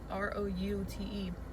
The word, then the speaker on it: route: But the way it's spelled, it's R-O-U-T-E. The O-U is the ow sound. Route. If it was root, it'd be O-O. Like roots.